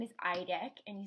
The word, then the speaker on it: Idek: And his name is Idek, and you spell it I-D-E-K.